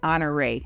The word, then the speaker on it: Honore: and into the East honoree and so h-o-n-o-r-e people always want to know how we say it we pronounce it honor right here so it's right in